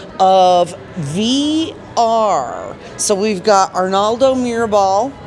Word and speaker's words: Arnaldo Mirabal: So we've got Arnaldo Mirabal, right?